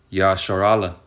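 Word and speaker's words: ישראל: de yah bash voy el nombre Israel significa en el hebreo se pronuncia yashar ala que ya es el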